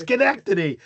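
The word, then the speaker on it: sanctity: came in and goes it's not sync it's skenctity.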